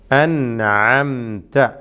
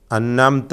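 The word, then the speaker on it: أنعمت: അൻഅംത. ഇവിടെ വരുത്തുന്ന അബദ്ധങ്ങൾ എന്താണ്? അന്നംത എന്ന് പറയും, അന്നംതയോ ഷദ്ദുള്ള നൂന് പറഞ്ഞുകൊണ്ട് അന്നംത എന്ന് പറയും. വളരെ വലിയ അബദ്ധമാണ്.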